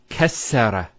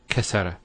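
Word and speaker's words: كسّر: Kassara instead of kasara. So once again, there's the kaf, followed by 2 scenes, and then the ra. So kas, sukune, sara. Kassara, not kasara.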